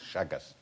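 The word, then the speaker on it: Chagas: It's actually spelled C-H-A-G-A-S, Shaggas.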